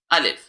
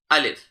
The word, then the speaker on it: alif: Is called الف۔ So the way we are going to pronounce is that we are going to place our rabbit teeth on our lower lips and then say alif. Repeat after me, alif.